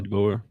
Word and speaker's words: DeBoer: Yeah, DeBoer.